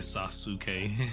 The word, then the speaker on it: Sasuke: Yeah, because technically Sasuke is not Sasuke would not be pronounced how it is in English, like because of the U. But hey, yeah, it would be more like Sasuke.